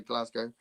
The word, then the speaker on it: Glasgow: Um, I've heard Glasgow said wrong. Yeah, I've Glasgow. Glasgow. Glasgow. Glasgow. Glasgow. We say Glasgow. Uh, Americans say uh when they say Moscow, they say Moscow, don't they?